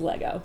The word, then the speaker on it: Lego: 2 1 go please say it properly it's Lego Lego yeah I mean I bonded what happened